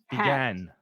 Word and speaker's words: began: with me ah you sound like a frog began began now if you speak valenciano or if